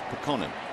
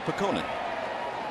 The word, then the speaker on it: Putkonen: But I asked Luke the other day and he said, nope, it's Pekonen. That's the way my parents have pronounced it. And he goes with Pekonen.